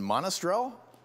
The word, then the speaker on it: Monastrell: Tell me if I'm screwing up the pronunciation. It's Garnacha and Monastrell.